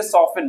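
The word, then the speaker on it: soften: यहां देखेंगे क्रिस्टमस नहीं है, टी साइलेंट हो गया तो क्रिसमस। इस तरीके से सॉफ्टन मुलायम।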